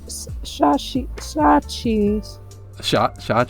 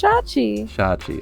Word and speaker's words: Shachi: but yeah it's uh cheese shot cheese sorry for these mispronunciations of the names it's shachi okay the next pyramid the